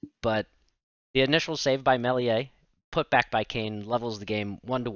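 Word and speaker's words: Meslier: going to mispronounce it I believe it's Melia the leads goalkeeper so you know the s the E and the r all silent but the initial save by Melia put back by Kane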